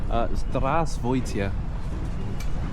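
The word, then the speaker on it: Здравствуйте: Zdravstvuyte. Zdravst That's perfect. Say it like that.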